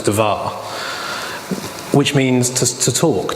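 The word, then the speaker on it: דבר: we've talked about how Hebrew uses consonants only and then you saw of a pen of the vowels to it to make it a pronounceable word well Devere if you take away the vowels there's something DVR inning in English letters if you if you append a a to the division becomes devar which means just a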